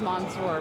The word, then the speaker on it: Mansoor: Because everybody says mansor and I know it's monsour, but yeah, it's monsour. Um you know, uh it's pronounced spelled with a so I don't blame too many people. Uh but it's almost like O.